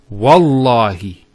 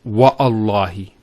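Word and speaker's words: والله: it, and we say Wallahi. This waw here is actually known as waw al-qasm, the waw of swearing an oath. So when we put this waw, it's Wallahi, not Wa'allahi.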